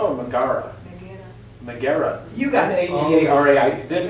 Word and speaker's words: Megara: Let's see, was it Magala or Megara? Megara. You got it. Megara. I didn't Very pronounce it good.